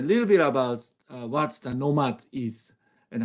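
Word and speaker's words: KNOMAD: Etc so please battle nomad thank you so Nomad spelled with a k um Nomad is short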